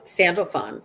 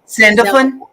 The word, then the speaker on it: Sandalphon: mind ally it's uh i've heard it pronounced sandal sandalphon sandalphon sound okay and i think